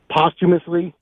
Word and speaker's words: posthumously: Posthumously.